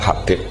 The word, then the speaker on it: Habib: Itu di harakatnya kitab itu ada yang nulis Hubab. Yang benar Oh, nggih. Yang benar itu bacanya Habib.